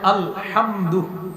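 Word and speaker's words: الحمدُ: পড়েন তো আমার সাথে আলহামদু আলহামদু আলহামদু আলহামদু আলহামদু আলহামদু হামজা লাম জবর আল হামজা লাম জবর আল হা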